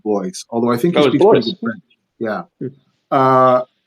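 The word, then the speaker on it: Blois: yeah so Cody blo I believe he does pronounce it blo although I think yeah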